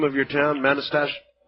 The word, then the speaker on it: Manastash: How do you pronounce the name of your town, Manastash? Manastash.